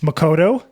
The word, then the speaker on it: Makoto: design yeah thanks for having me um it's Makoto just uh yeah pronunciation is always different but I've I'm used